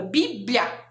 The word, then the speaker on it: Bíblia: que escreve a palavra Bíblia pensa que é lha também b l h a não o som do l o som do lha tem gente que confunde com l i não pode confundir Então olha como escreve